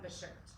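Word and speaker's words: bashert: souls okay um which is shidduch s-h-i-d-d-u-c-h and the shirt which i do know i said i said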